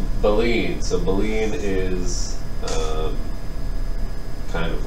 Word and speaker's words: baleen: And baleen, I looked up the pronunciation of the word, that's how you say it, according to the internet. Baleen.